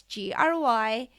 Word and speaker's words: Gry: You can download my project plan for the online course on Gry, that's Gry. I know it's spelled weird, but my mom and dad did not give me an international name.